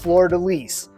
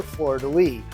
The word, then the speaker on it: fleur de lis: you will easily recognize if you're French it's pronounced flidais but for those of us who don't speak French you may prefer the angelized version of Florida or Florida Lee however you pronounce it